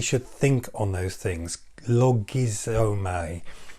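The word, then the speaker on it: λογίζομαι: Logizomai, Logizomai, if you're going to spell it out phonetically.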